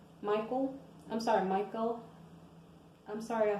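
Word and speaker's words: Michal: will give her his daughter her name was Micah Michael I'm sorry Michael I'm sorry I said it wrong okay um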